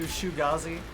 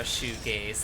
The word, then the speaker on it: shoegaze: Pronouncing the genre shoegaze like Fugazi. Shugazi.